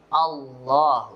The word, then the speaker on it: Allah: kita berikan contoh Hai Kalau sebelum lafadz Allah didahului dengan Fatah misalnya qallah sebelum lafadz Allah ada cola-cola kemudian Allah maka dibacanya tebal Allah Hai sebagian masyarakat Hai